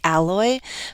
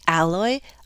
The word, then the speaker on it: alloy: two pronunciations i say alloy but i checked in a dictionary and saw that you can actually shift the stress to the other syllable so you can say alloy alloy depends on what kind